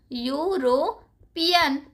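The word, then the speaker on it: European: क्योंकि देखो यूरोपियन तो है लेकिन इसका प्रोनाउंस कैसे हो रहा है? प्रोनाउंस हो रहा है यू की तरह। यूरोपियन यूरोपियन बोली ना यूरोपियन। यू से प्रोनाउंस हो रहा है ना?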